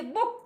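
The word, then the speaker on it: booked: इन the next classes we learn participant में past tense maker जो है ईडी, तो उसको हम जब प्रोनाउंसिएशन करते हैं तो ट का आता है।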